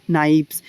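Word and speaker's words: knife: নাইভস, নাইভস, নাইফস অর্থাৎ উচ্চারণ প্রায় এক কিন্তু বানানগত পার্থক্য বা তার্তম্য রয়েছে। এখানে দেখো এ কে এন আই এফ ই হ্যাঁ এটার উচ্চারণ কিন্তু নাইফ হয়।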